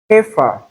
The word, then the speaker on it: heifer: Heifer, not heifer.